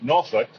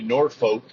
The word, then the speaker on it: Norfolk: However, if you're from Virginia, it's pronounced Norfolk. A lot of times on movies and TV shows, they'll say Norfolk, which is absolutely incorrect.